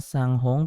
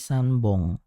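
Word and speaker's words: 三本: nihong ya Sambong sanong kalau tiga bukan pong tapi Bong ya Jadi kalau tiga kita sebutnya itu bukan sanghong tapi sanbong nah ini juga teman-teman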